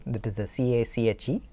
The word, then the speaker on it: cache: cache or l2 cache right that is the c-a-c-h-e pronounced cache now this cache is implemented using something